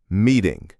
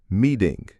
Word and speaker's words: meeting: Meeting. Notice that one. Even with an ing at the end, the T is between two vowels. So it becomes a flap. Meeting.